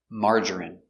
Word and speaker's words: margarine: don't like margarine pronunciation margarine M ah open Sound a m mar mar J J strong J Marge ER marger marger I Margery Margery M margarine margarine margarine three syllables stress on the first syllable Marge margarine margarine I